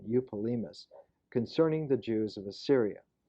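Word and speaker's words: Eupolemus: named Jim opus and you Polhemus is the Greek pronunciation I'm sorry of my English pronunciation you Polhemus concerning the Jews of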